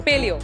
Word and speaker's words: Paleoo: को very good ब्रंड pronounce कैसे करते है पालि को पलियो पलियो इज अ एसिंट डाट